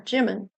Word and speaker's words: Jimin: Yeah, Jimin.